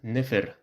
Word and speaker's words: nfr: For example, this word, if it's read as it's written, nfr, it sounds weird, so it's read as nefer, meaning beautiful.